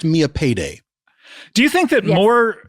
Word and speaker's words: Millipede: A lot of people a lot of people think it's pronounced millipede and I guess that's because it's how it's spelled, but it's pronounced Mia Payday.